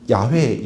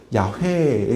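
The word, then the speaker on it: 야훼: 그래서 이스라엘 사람들이 지금도 가면 여호와라는 단어를 야회에 가깝게 약간 그 히이 그 가래 끓는 소리거든요. 야 이렇게 발음을 합니다.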